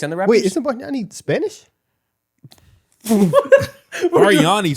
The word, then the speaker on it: Bargnani: Andrea Barnari. That's his name, Say it right? one more time. I can't say his name. bro. Andrea Ballerno. Andrea Bariani. Ooh, that was worse. Bargnani. Yeah. He's Italian.